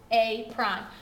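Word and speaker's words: A′: a has been dilated it is pronounced a prime so it's a way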